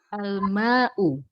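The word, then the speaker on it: الماء: Bedanya, al-ma'u itu ada alnya, jadi tidak tanwin. Al-ma'u. Sedangkan selanjutnya di sana tidak ada alnya, jadi ma'un.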